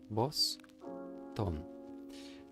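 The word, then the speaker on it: ボストン: So this is actually a su, but strangely you can't hear this u, right? In the Boston.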